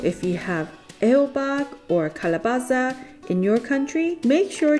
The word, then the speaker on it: calabaza: So Angelica, please tell us how to pronounce it properly. So when referring to Mexican squash, we typically say calabacita or technically calabaza.